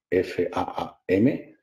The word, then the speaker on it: Flåm: Aquí, Faam, que en el nórdico moderno se escribe la A con una bolita encima, no sé si lo habéis visto en algún folleto o algo. Antiguamente era una doble A, hoy en día es una A con una bolita, es la misma letra.